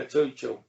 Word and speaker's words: Tuchel: Yeah, Tuchel.